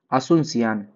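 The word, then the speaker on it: Asunción: peso currency है पेशो पराग्व का बात करें असुनसियान असुनसियान इसकी क्या है कैपिटल है ए एस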